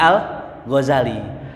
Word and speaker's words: al-Ghazali: pertama maknanya Godzilla daerah Al Ghazali orang Ghazali Al Ghazali dibacanya Al Ghazali ada yang mengatakan berasal dari kata Ghazali yang